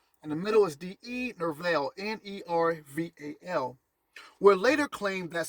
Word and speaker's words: Nerval: The poet Gerard de Nerval, Gerard is spelled Gerard, and the middle is D-E, Nerval, Nerval, would later claim that Sophia had represented Isis.